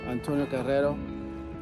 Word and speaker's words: Antonio Carraro: Antonio Carrero. It's pronounced properly.